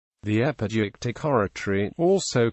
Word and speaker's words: epideictic: The epideictic oratory, also called ceremonial oratory, or praise and